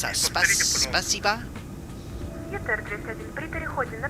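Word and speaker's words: Спасибо: how do you pronounce that? Spasiba?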